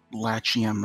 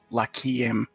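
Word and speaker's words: Lachiem: Apparently, it's pronounced Lakiem.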